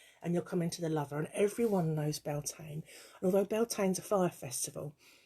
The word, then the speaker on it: Beltane: the other week and someone referred to it as beltaney or something like that and they sort of pronounced it different and i said to a friend afterwards that was a different spelling and pronunciation of beltane and uh because the